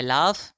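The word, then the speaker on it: laugh: سے ہوگا، اسی طرح لاف جی ایچ ہیں تلفظ فا سے کیا جائے گا۔ ہم نے آج پروناؤنسیشن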